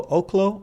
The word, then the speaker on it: Oklo: you you you told me how this is pronounced o oklo oklo oklo apparently oklo okay so for oklo uh this morning we